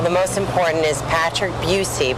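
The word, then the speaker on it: Buhse: Well, the most important is Patrick Buucy, but it's spelled B U H S E. So, a lot of people call him Bushy.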